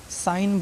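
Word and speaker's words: sign: है ठीक हैगन नहीं बोलना है रिजाइन इसको सिगन नहीं साइन बोलना है क्यों क्योंकि इसका जी साइलेंट है मुक है इसका प्रोनाउंस हमको नहीं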